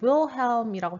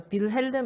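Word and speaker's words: Wilhelm: 그 다음에 윌헬임이라고 되어 있는데 독일에서는 이 W를 우 발음이 아니라 브 발음으로 읽습니다. 그래서 빌헬름 1세라고는 여러분들이 지나가다 들어본 적이 있을 거예요.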